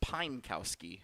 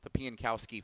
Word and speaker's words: Piankowski: Said Pinekowski every year that he's been part of it. So now we actually, we do this afternoon, and I see how it's actually pronounced, and so I apologize